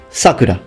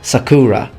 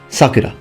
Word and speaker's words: Sakura: notice it's not pronounced Sakura it's Sakura the term means cherry blossom it's just that when you use it as the name of a girl the pronunciation shifts toward the beginning towards the beginning so Sakura whereas when